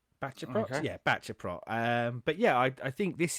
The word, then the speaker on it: Baceprot: part of Wikipedia, but I believe the way they've got it on here would be Baceprot. Baceprot? Okay. Yeah, Baceprot.